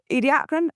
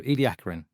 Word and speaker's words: Ediacaran: Ediacaran because it's named after a place in South Australia and that's how the local people, the Aboriginals, would pronounce it.